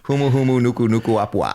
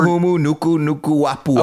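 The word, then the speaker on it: Humuhumunukunukuāpuaʻa: Humuhumunukunukuapua'a. I figured out why you keep saying it wrong. That last K is from the last nuku. Okay, it's not an extra K that you say again.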